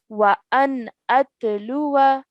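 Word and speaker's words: وَأَنْ أَتْلُوَ: of the word, and that indicates that we do not pronounce the alif zaida at the end. So this is how we would pronounce it. We would say وأن أتلو.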